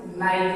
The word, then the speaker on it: knight: Easy for example, जैसे नाइट है, KNIGHT में के साइलेंट है और इसका प्रोनाउंसिएशन नाइट होता है।